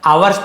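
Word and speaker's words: hours: गया पास सिपल आर इसे वर्स नहीं पढ़ेंगे आवर्स पढ़ सकते हैं आर्स पढ़ सकते हैं आवर्स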